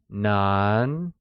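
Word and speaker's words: 男: In Mandarin, the word boy translates to nan hai zi, where nan, spoken in the second tone, means male, and hai zi, also spoken in the second tone, translates as child.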